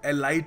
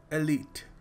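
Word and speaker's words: elite: एलीट एलीट इसको देखिए बहुत सारे लोग एलाइट कहते हैं कई लोग कुछ और ही कह देते हैं कई तो खैर कुछ और ही कह देते हैं सो इसको सही तरीके से प्रोनाउंस करने का तरीका है एलीट बहुत ही एलीट दोस्त है तेरे तो काफी ऊंचे लेवल के दोस्त हैं ठीक है सो याद रखिएगा the next time you use this word it's एलीट देखिए अगला शब्द है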